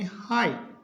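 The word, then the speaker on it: high: एच रहेगा silent तो इसमें एच आई जी एच तो जी एच साइलेंट इसका मतलब इसको पढ़ेंगे हाई टी एच O Yeezy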